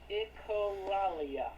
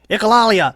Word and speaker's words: echolalia: Condition called echolalia. Echolalia. That's how you pronounce it.